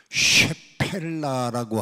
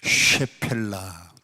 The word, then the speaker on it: 쉐펠라: 그 장소가 어디였느냐 지역은 쉐펠라라고 하는 지역입니다 한번 따라해 봅시다 쉐펠라 쉬 발음을 아주 많이 해야 됩니다 쉐펠라 지역은 슈펠라 지역인데